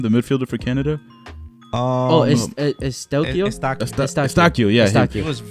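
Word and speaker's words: Eustáquio: Estacio, yeah.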